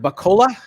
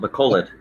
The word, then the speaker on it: Bacolod: Is it Bacola? Is that the right way to say it? Bacola, But Philippines? it's got a D at the end. Bacolod.